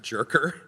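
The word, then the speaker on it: Djerker: where it's from but it's a foreign name and it's it's spelled d-j-e-r-k-e-r and it's pronounced jerker so goodbye dick jerker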